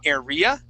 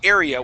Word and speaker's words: area: the word area okay you were saying area okay but we want to say area with the accent at the very beginning so I capitalize that